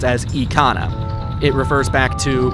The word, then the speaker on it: Ikana: Just in Japanese, the word I is always said as an E sound rather than well, I sound.